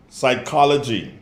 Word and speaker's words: psychology: the h is silent psychology the p is silent knife the k is